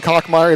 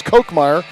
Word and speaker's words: Kochmeyer: We've been pronouncing it wrong. We've been saying Kochmeyer. It's Kochmeyer.